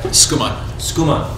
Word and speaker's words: Schoeman: Schoeman. Yeah. Schoeman. It's very fast. I've been called Schumann, Schumann, Schoeman, Showman. I always want to go to Schumann.